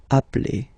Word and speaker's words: appelle: So when you get this e vowel and then you get a double consonant, and well, they are the same, then it does change the pronunciation of e. You tend to pronounce it like really open. That's the reason why you pronounce it appel, appel.